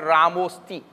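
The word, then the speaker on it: रामोऽस्ति: So when you see it in the literature, you pronounce it Ramo Sti.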